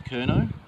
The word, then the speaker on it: Curnow: Thomas Curnow put his horse behind... Yeah, sorry. I just reminded myself. A lot of people say Thomas Curnow. It's pronounced Curnow because he's Cornish.